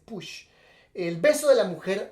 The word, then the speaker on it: Puig: Igual en Argentina, Manuel Puch, aunque se escribe Puig, pero tengo entendido que se dice Puch.